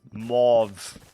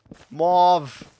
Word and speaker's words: mauve: Pronounce without the E. Mauve. Mauve.